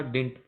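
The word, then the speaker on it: didn't: Subject, subject plus डिड नॉट, तो इसको आप डिडंट बोलोगे, उच्चारण आपका डिंट करना इसको।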